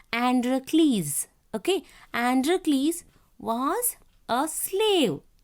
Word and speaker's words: Androcles: Children, see this one you have to pronounce Androcles.